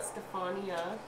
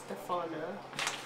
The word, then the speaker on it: Stephana: And my last name is So it's not Stefania, it's Stefana. I.A.